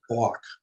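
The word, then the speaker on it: Bogk: a different family yeah that house is b o g k i believe correct yeah i think that's pronounced block right and that house was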